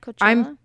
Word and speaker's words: Coachella: Coachella?